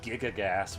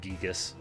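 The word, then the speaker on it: Giygas: He doesn't know because he said Gigagas when it's like Gigas Yeah, I mean, I or Gigas.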